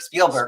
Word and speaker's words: Spielberg: Is it Spielberg or Spellberg? Spielberg, right? Spielberg. Yeah, Spielberg. Okay, are there any Spielberg movies you haven't seen that you like to react to?